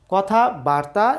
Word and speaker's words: কথাবার্তা: জেনে নেওয়ার চেষ্টা করি কথাবার্তা আর হচ্ছে কথা বার্তা কথাবার্তার অর্থ হচ্ছে বাক্যালাপ বাক্যলাপ বা কথোপকথন কিন্তু কথা বাত্রা এরকম শব্দ বা শব্দের উচ্চারণ কিন্তু বাংলা ব্যাকরণের অভিধানে নেই কাজেই কথা